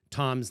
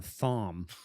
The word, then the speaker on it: Thom: He always spelt it with an H, so I would sometimes call him Thom. Thom? Like, no, it's Tom, but it's spelt with an H, so it's Thom.